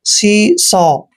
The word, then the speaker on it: seesaw: Next word देखिए, SEESAW। एस का उच्चारण से करते हैं, डबल ई को ई की मात्रा पढ़ते हैं, सी। और एस का उच्चारण शे करते हैं, AW को ओ पढ़ते हैं ऐसे, ओ। सी सौ।